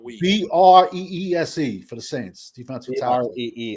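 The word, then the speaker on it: Bresee: It's spelled with the last name spelled weak. Breese for the Saints, defensive tackle.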